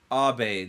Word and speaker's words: Abe: Yeah, that fucking Abe from Abe's Odyssey? Abe, not Abe. It's not like that. It's not American. It's Japanese.